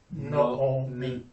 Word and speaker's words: Naomi: shelf is always o so it's no o me no me so both two o's